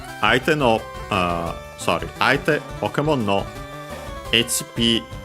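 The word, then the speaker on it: 相手: Actually, I don't think I mentioned the accent of Aite. It's accented on the last syllable, so be careful.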